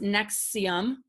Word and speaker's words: NXIVM: Prosecutors allege that Mack was involved in the scheme with Keith Raniere, the leader of NXIVM, pronounced Nexium, promoted as a self-help group.